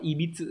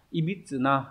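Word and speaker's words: 歪: thì đây nó dùng dạng tính từ đọc là EBIT nhá ibit đây người ta giải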